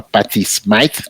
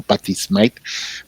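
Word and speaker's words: Patty Smyth: Ya ves que sonaba incluso una chica, sonaba esta chica que se llama Patty Smite, que no se debe confundir con Patty Smith, esta la pronunciaban como Patty Smite, vocalista de una banda llamada Scandal.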